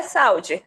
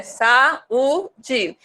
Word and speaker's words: saúde: Mas não é saúde, é saúde. Então, a gente percebe que as vogais se separam na hora de pronunciar.